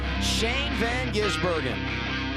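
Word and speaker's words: Shane van Gisbergen: Two years ago, we were trying to figure out how to pronounce his name. Now it's Old Hat in Chicago. Say it with me. Shane Van Gizburgen.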